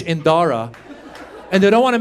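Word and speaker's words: Dhara: But then she wanted to Indianize it, so she added a silent H after the D. So now it's spelled D-H-A-R-A.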